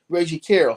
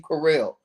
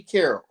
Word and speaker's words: Carroll: Yeah, I don't think the bodyguard's name is Williams, and he needs to say Reggie Carroll. Stop calling him Reggie Carrell.